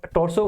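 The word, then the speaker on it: torso: टोसो बोल देते हैं आर जनरली साइलेंट रहता है आ इसमें क्या जभी भी आर के बाद में कॉन्सोनेंट साउंड आता है तो सामान्यत आर साइलेंट रहता है ब्रिटिश इंग्लिश में अमेरिकन इंग्लिश में उसको प्रोनाउंस कराया जाता है कोई दिक्कत नहीं है ठीक है तो आप अगर टोसो पढ़ते हो या टोसो पढ़ते हो डजन मैटर ठीक है सो किधर करना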